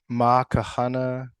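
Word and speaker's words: Ma ka hana ka ʻike: MaKaHanaKa'Ike.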